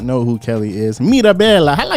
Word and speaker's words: Mirabella: So for anybody who does not know who Kelly is, Mirabella, how do you say that with the swag? How do you say that? It's just Mirabella.